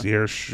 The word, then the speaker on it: Saoirse: name is not at all spelled how it's pronounced. Saoirse. Yeah. Saoirse Ronan?